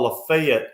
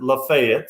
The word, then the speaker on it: Lafayette: oxford is in what most people would call lafayette or lafayette but they pronounce it lafayette so she gets a job at lafayette high